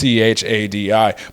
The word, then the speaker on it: Chadi: But the good news is, the bad news is Chaddy dies, or Chadi, I don't know how they pronounce it. It's Chadi. But in any case, he's